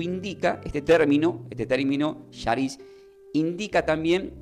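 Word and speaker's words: χάρις: significa entonces del griego la palabra gracia se pronuncia como Sharis para los que quieren anotar C de casa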